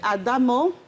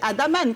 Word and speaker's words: Adamo: Et nous avons monsieur Adamo Nabi. J'ai bien prononcé. J'ai failli dire Adaman comme vos professeurs, comme vous le disiez tout à l'heure en off.